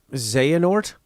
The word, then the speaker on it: Xehanort: It's pronounced Xehanort. What did I call it? Xenohort? Xenohorky.